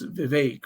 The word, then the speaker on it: Vivek: debate to properly pronounce Vivek, which he says rhymes with cake.